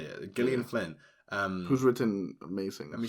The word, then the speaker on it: Gillian Flynn: Gillian Flynn.